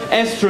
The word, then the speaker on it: Esther: If you're going to molest children, Esther is a fantastic name to have. Because if your name rhymes with molester, no one's ever going to believe the children.